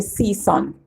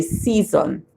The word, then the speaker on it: season: But in real life, we don't say season. We say season.